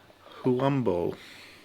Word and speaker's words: Huambo: Okay, so then he's going to visit this right there, where in, how do you pronounce that one? Huambo.